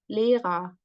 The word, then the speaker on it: Lehrer: And here too, we have this vocalized R, Lehrer, verheiratet. So you can pretty much hear, I think, the A sound, right?